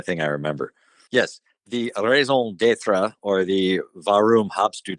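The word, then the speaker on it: raison d'être: It's pronounced raison d'etre. I got a D in French. That's the only thing I remember. Yes, the raison d'etre, or the Warum habst du das, in German,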